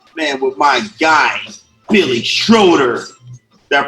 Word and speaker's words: Schroeder: 1st with the man with my guy billy schroeder that pronounced your last name right you did hello